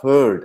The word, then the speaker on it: herd: Beware of herd, a dreadful word that looks like beard and sounds like bird.